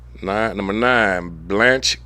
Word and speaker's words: Blanche: Nine number nine, Blanche K.